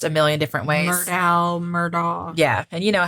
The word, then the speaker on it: Murdaugh: And that Murdaugh, it's Murdaugh. I've heard it pronounced a million different ways. Murdaugh.